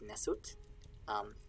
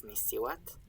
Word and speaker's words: nswt: And together, that's sort of an abbreviated writing of the word that in Egyptological pronunciation is nesut. In reconstructed, it's nisiwat.